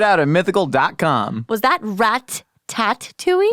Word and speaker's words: Ratatouille: Was that Rat-tat-tooey? Ratatouille, that's how it's pronounced.